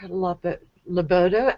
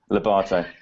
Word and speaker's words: Lobatto: And also with us is Mark Lobatto. I knew I would do that. I pronounced it wrong. Lobatto.